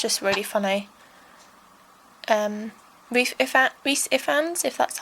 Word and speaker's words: Rhys Ifans: star and yeah it's just really funny refat Rhys Ifans that's how you say it please spike which